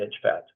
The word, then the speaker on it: EJFAT: Pat and it is even though the acronym is EJ fat we pronounce it as Edge fat why why did this